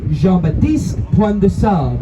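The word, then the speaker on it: Jean Baptiste Point du Sable: chalkboard to them, but the way to properly pronounce his name, it would be Jean-Baptiste Point de Sable. If you're pronouncing at least slightly correct, I'm not very good at French.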